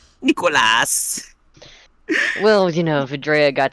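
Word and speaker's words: Nikolas: oron Nicholas Luther why are both his names pronounced weird it's AAS n i k o l a s Nicholas well you know vrea got to name him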